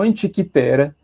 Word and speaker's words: Antikythera: Então, Antikythera é o mais adequado, tá? Né, a pronúncia é grega, né?